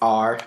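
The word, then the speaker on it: 二: R.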